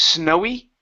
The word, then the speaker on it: snowy: Okay, so it's snowy, which is quick, snowy. The other one is snowing. So I elongate the E sound a little bit, and then I also pronounce a G at the end.